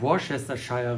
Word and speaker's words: Worcestershire: Ich weiß es irgendwie, dass nicht ganz ausgesprochen wird, wie es geschrieben wird. Also wir haben gelernt Worcestershire. Worcestershire. Nee, die Eselsbrücke ist immer, dass es irgendwas mit Worst zu tun hat.